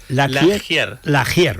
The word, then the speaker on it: Lagier: La laier, o sea, tal y como suena. Exacto, exactamente. No, en realidad es de origen francés.